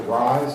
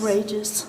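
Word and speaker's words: Reyes: Is it Rise? Is that how you pronounce it? Rages. Rages. R-E-Y-E-S?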